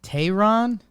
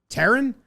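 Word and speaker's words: Teherán: him in a while Taryn Tehran Tehran okay Julio Charon Tehran yeah it's got a y in there I don't know there's a y in the pronunciation oh I think yeah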